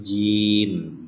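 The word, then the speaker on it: جيم: Jadi ini huruf jim, bukan huruf ja ya. Tapi kalau nanti dia berharokat fathah baru dibacanya ja, tapi nama hurufnya adalah huruf jim.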